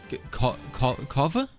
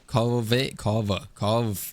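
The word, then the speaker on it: Kaveh: No, my stream taught me how to pronounce his name, but I forget. It's like... Kava? Kave?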